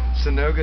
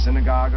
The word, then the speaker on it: synagoga: the song called um sonoga Satan no saga no what what's the house of God the Jewish House of God synagogue that's right okay synagoga I mean that's the